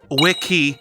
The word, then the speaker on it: wiki: the word last time it's apparently wikii not wiy my bad I'll try